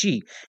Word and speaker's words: Qi: had something called Chi it's spelled Qi it's pronounced chi chi and Chi is